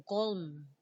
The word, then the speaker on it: calm: Lain po, calm. Ato is silent L, calm.